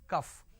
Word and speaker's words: calf: to understand calf is whenever you say calf it is c a l f is not calf it is cuff all right the syrup